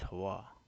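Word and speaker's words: hayah: you the word is Hawaii hey yeah it's how it's spelled h-a-y-a-h y mix W sound in Hebrew so it's Hawa never has changed but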